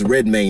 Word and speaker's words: Redmayne: this man's name wrong it's red may not rain notice I haven't said